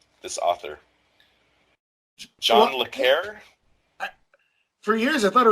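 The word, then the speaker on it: John le Carré: you might consider it close to the English pronunciation of hooray, but with a slight trill on the R sound. So like John Le Carre. John Le Carre.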